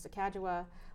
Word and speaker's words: Sacagawea: very early on right Sacagawea accept the correct pronunciation is the Caggiula was on a dollar